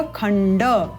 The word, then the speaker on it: खंड: मंड इस प्रकार होगा परंतु यहां पर आप देखते हैं कि खंड में हलंत नहीं है ड पूर्ण है अर्थात अ स्वर युक्त है इसलिए उच्चारण होगा खंड इसी प्रकार से मंड